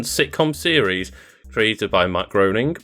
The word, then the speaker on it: Groening: series created by Matt Groening mcgreening Matt Groening it's my great he always says say it's a rhyme with complaining okay migraining then uh